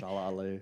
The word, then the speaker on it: Mahershala Ali: Mahershala Ali.